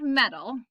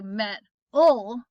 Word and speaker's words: metal: it's on accented meaning when i say the word metal how many syllables does it have meh tall two um and the first one is the one where i put my more of my emphasis matto i don't say met ol right that's weird metal